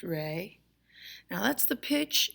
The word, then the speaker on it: re: oh oh now moving on to rey pronounced rey now that's the pitch it's the upper next